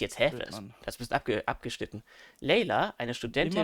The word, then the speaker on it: Layla: Layla, verträumter Abendstern. Layla. Layla, nicht Layla. Was? Achso, ich dachte jetzt, hä? Das ist abgeschnitten. Layla, eine Studentin. Immer noch falsch. Layla. Layla. Wie I.